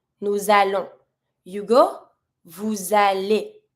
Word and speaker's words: allez: You go, vous allez. Same thing, I link with my S and I pronounce my EZ like a E.